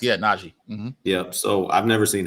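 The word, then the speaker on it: Nnaji: Anthony Towns, James Naji, is that how you pronounce his name? Correct. Yeah. Naji.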